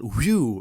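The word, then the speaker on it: Whew!: And unless you're doing like a promo on Buzzr and then you call it whew or something, it's like it's literally the guy literally just said we pronounce it whew, and then you're gonna go next up on woo.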